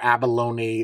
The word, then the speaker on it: abalone: There's two types of abalone or abalone. The correct way to say it is abalone, like a baloney, just with an A in front of it.